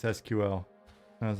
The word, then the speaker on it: SQL: he say SQL um I always said squl and then I realized like someone told me that I was saying it wrong and it's like it's SQL and I was like